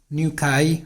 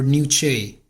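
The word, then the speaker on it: nuchae: an attachment site for ligamentum new chi or new che using pronounce it as new che or new chi both are correct ligamentum new k is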